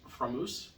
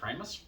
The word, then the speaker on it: Framus: start in on me, I know it's actually pronounced Framus, but I am an American and it's just more natural for me to say Framus.